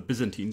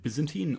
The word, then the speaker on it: Byzantine: Before I get into the details, a question of pronunciation. Is it Byzantine or Byzantine generals? Well, so as far as I know, the standard British pronunciation of this word is actually Byzantine, and Byzantine is the American pronunciation.